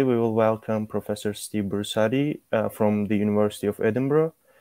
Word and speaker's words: Brusatte: them to professor bursari um welcome again professor bursari i hope i pronounced your last name yeah yeah very good